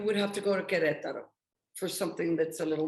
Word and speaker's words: Querétaro: Querétaro.